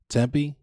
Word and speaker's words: Tempe: that i would but how do you pronounce that as a tempeh am i pronouncing it wrong can you tell i've never been to the west coast i've like never i've literally never tempe okay other than your brother